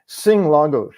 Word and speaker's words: Lagos: Which is why I threw sing lagos, la la la lagos, because some people will remember that and they won't remember the the penultimate syllables where the accent goes and the vowel opens.